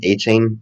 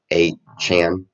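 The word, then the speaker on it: Achane: because on a Chan a chain I think he wants us to pronounce his name a Chan not chain I don't know why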